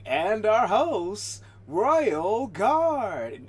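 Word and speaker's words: Royal IV Guard: It's not Royal for Guard. The 4 is silent. The IV is silent. It's Royal Guard, not Royal Dash IV, which is for Dash Guard. It's just Royal Guard.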